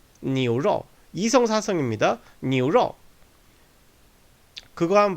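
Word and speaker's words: 牛肉: 앞에 자음이 붙게 되면 이 여우가 단독으로 쓸 때는 여 이렇게 쓰이다가 앞에 성모가 붙게 자음이 붙게 되면은 약화됩니다.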